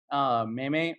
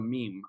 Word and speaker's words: meme: end up on me a meme is in Spanish what you would call me me you know literally how it's spelled Meimei but in English we call it a meme I get that question